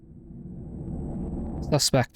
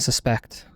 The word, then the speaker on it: suspect: One of those words that you take you slightly change the pronunciation when you uh depending on whether it's a a verb or a noun. Suspect for a noun and suspect for a verb.